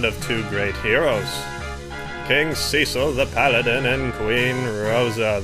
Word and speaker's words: Cecil: and yes I know some people pronounce it Cecil I pronounce it Cecil so get over it monsters don't play favorites